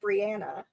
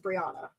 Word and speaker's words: Brianna: So, my name my name is actually pronounced Brianna. People almost to a tea. Every single person says Briana.